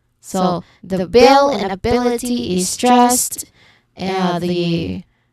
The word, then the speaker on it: ability: that flexibility sincerity opportunity all of them follow the same rhythm. Third syllable from the end is stressed. So the bill and ability is stressed.